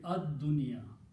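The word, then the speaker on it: الدنيا: Put al before that. It become al, pronunciation will be ad-dunya, the world.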